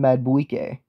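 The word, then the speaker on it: Madubuike: I don't even know how to pronounce that dude's name. Yeah, I do. It's Justin Madueke.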